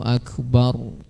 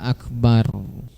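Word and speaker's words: أكبر: wa alla yushaddidal ba, tidak mentasydidkan huruf ba pada kata akbar. Jadi bacanya itu harus akbar, tidak boleh akbar, tidak boleh. Itu ditasydid dia kalau dibaca akbar, ya. Nah, tapi harus dibaca akbar.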